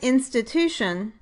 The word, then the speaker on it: institution: For example, in the word institution the pattern is strong, weak, strong, weak. The third syllable tu is the strongest syllable and gets primary stress, but the first syllable